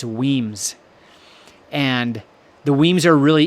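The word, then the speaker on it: Wemyss: a note right here weams is spelled weem yss so it looks like we whis but it's weams and the weams are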